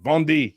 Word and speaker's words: Vendée: Auclair there at the Catholic University of, Vendée. That's it. Vendée. Yeah, see, I had to remember how to pronounce it.